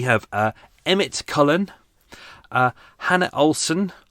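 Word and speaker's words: Hanne: uh emmett cullen uh hannah olsen i hope that's how i pronounced it h a n n e hanny hannah hannah online it says hannah so i hope i've got that right hand there uh holly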